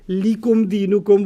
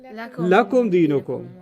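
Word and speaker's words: لكم دينكم: So you don't say likum dinukum waliyadin. Okay. What do you say? Lakum dinukum.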